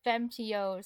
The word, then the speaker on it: femtio: I totally forgot that the 20s and 30s are spelled with an O at the end since you don't pronounce it.